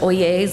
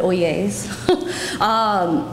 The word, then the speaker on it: Oyezz: I'm with oh yeas Real Estate's pronounced oh yeas like oh yes but oh yeas I should turn the